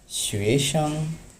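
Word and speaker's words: 学生: ওকে, দেন আমাদের পরের ওয়ার্ড হচ্ছে শুয়েশাং। শুয়েশাং, দেখেন শুয়েশাং। শুয়ের উপর কি? আমাদের সেকেন্ড টোন। সো আমাদের শুয়েশাং। শাংয়ের উপর আপাতত কোনো টোন নেই, সো আপনি নর্মালি শাং বলতে পারেন।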